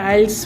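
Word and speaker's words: IELTS: सबसे पहले तो लोग इसको प्रोनाउंस गलत करते हैं। इसका प्रोनाउंसिएशन है आइल्स।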